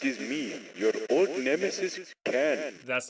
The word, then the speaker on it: Khan: This is Ken, spelled with an A for some reason, but pronounced with an E.